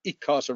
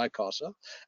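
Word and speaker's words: ICASA: of electromagnetic frequencies of interest for this presentation any casa and uh adrian we not quite as english as you are we pronounce it as it casa rather than i casa uh regulates from nine kilohertz to one terahertz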